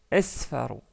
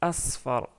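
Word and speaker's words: أصفر: s'arrête sur le mot attention je pas prononcer esfar donc c'est un sad la deuxième lettre donc c'est Asfar la troisème couleur c'est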